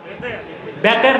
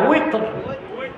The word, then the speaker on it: উইতর: তারপরে আবার 3 রাকাত বেতের না, উইতর, এই উচ্চারণগুলো শুদ্ধ করতে হবে। আমাদের দেশে মৌলভী সাহেবরা বলে বেতের, বেতের না, উইতর, সালাতুল উইতর, বুঝলেন?